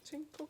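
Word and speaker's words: ginkgo: Jinko, on dit en JN, Jinko, CO, ça se prononce comme ça, j'espère.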